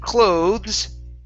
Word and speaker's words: cloth: like this, the TH is unvoiced. Okay. With clothes, okay, this is the TH is voiced. Okay. So what's the difference? Like an F sound, cloth.